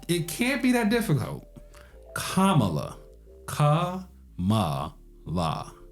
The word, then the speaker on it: Kamala: going with kamla Harris and her name is Kamala it's not that difficult it's it can't be that difficult Kamala ka la right that's how it's pronounced um